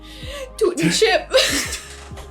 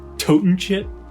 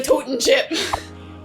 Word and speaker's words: Totin' Chip: Tootin' chip. It's pronounced Toten chip. It's a totin' chip.